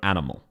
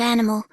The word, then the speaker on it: animal: Aussies would not ever emphasize animal. We go animal. It is very flat. There is no emphasis. Each of the syllables is the same length.